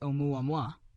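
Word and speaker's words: ʻOumuamua: Astronomers nickname it Umuam, pronounced omuam, Hawaiian for a messenger from afar, arriving first.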